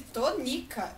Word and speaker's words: Tonica: No nome de Dona Tonica, a sílaba tônica é ni. E na palavra que eu disse, a sílaba tônica é to.